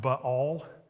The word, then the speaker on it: Baal: My pastor growing up, If in Hebrew, the word Baal had a little asterisk between the A and the L, and so in Hebrew, it's pronounced Baal, and we all kind